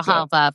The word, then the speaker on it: Grijalva: Adelita Grijalva, is that how you say it? Well, yes, absolutely. Grijalva from Arizona and she was actually just sworn in a few minutes ago.